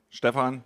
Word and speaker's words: Stephan: Yeah, I pronounce it on German. Stefan Stefan Zara.